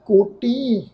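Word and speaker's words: ਕੋਟੀਂ: ये वर्ड आ जी, कोटी करोड़ा, भी करोड़ा वारी कोई रब जी का कथन करे पर रब का अंत नहीं पा सकता। कोटी थोड़ा बिंदी नाल नासकी टोन में प्रोनाउंस होएगा, कोटी।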